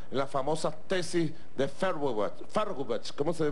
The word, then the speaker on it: Feuerbach: Lo dijo Carlos Marx en las famosas tesis de Feuerbach. ¿Cómo se pronuncia?